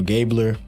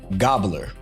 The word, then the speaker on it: Gabler: and 9 assists for Gabler. They say his name is Gobbler, and that's crazy. So I don't really think that's gonna happen in terms of how we're gonna pronounce his name.